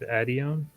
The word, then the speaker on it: Adion: And I'm gonna go to the Church of Adion. Okay. Is that how you pronounce it? Yes. Cool. Nailed it.